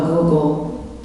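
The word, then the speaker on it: googol: pronounce the word g-o-g-o-l how do you pronounce that a google a google plex is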